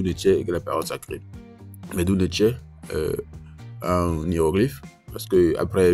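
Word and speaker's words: Medu Neter: la vocalisation ou bien la prononciation de cette phrase, c'est Medou Neche, Medou Neche, Medou Neche. Donc en B, également, ça se prononce Medou Neche, et ça veut dire la même chose.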